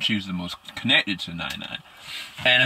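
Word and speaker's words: 奶奶: Her grandmother's name is Nana, or Nani. Nai-Nai. I think I pronounced it so wrong. I think I am. Yeah, let me make sure I got it right. Nai-Nai, yeah.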